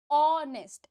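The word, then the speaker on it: honest: ऑनेस्ट, एच जो है आपका साइलेंट हो जाता है, ये तो पता है आपको। यहाँ पर आ रही है ओ की आवाज इसलिए आपने लगाया एन।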